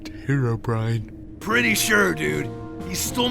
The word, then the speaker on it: Herobrine: Hero Breeny. He's real. Really? It's pronounced Herobrine.